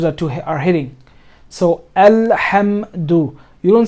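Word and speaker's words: الحمد: Like try not to, what I'm trying to say is try to emphasize alhamdu. You're hitting the letter, right? This ha is hitting the meme. Hamdu.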